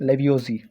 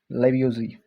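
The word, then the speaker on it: Lavoisier: सक conservation of matter law एक science Antoine लेवजी ठीक एंटोइन लेवजी जो प्रोनाउंसिएशन थोड़ा डिफिकल्ट ठीक है सो एंटोइन लेवजी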